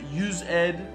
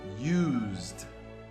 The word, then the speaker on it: used: It is also the form generally used If I have to hear use ed one more time, I'm going to go crazy because we pronounce this word used.